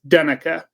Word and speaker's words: Duna: the last one and it's Duna so it's du is how it's pronounced Duna so anyways thank and